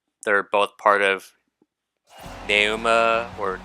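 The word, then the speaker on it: Pneuma: Even though like they're both part of Nauma or Numa. I'm not certain 100% certain how you pronounce that, but like I'm almost positive the P is silent.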